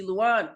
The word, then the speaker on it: Luan: Please welcome to the podcast, Luan.